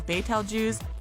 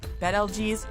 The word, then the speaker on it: Betelgeuse: is a contentious issue whether you know it as baytal jews bed lg's or simply beetlejuice we're talking about that